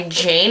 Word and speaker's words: Jayne: Her name is Makeup by Jane. It's spelled Jayne.